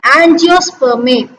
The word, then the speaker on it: angiospermae: Here angiospermae, AN and GIO, geo, SPER, spur, MEA, may, angiospermae.